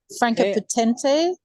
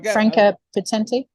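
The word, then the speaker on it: Franka Potente: Franca Potente. I think plays her. I can't pronounce her name. Oh, Franca Potenti.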